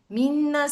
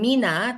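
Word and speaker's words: みんな: Minna shinsetsu. Bukan mina, tapi minna shinsetsu. Minna.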